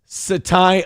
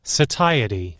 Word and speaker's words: satiety: That's not how it's said. Satiety.